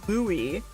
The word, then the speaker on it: Louis: Oh, it's pronounced the French way, Louis.